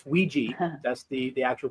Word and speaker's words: Ouija: not Ouija Ouija it it's a it's Ouiji that's the the actual pronunciation for it okay there there